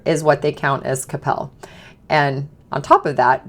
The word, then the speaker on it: Coppell: So number 1 on the list in the Dallas area is actually Coppell. It's called Coppell, not Coppell. People never seem to really know how to pronounce it, but it's Coppell, and it is right